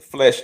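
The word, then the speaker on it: Flesch: uh look up on google the uh the flesh index f l e s c h i believe is spelled not flesh like flesh and blood but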